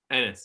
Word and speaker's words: Enes: Enes, yeah.